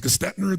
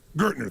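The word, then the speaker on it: Gerstner: And they brought in, I don't know how to pronounce his name, it was Gestetner, the gentleman who came in, who was like the major turnaround guy. What's his name? Gertner, thank you.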